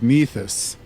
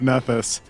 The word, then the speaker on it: Nethys: Oh, I'm using the travel speed from the core rulebook on the old archives of Nethys. Yep, that's how it's pronounced. Definitely not Nethys.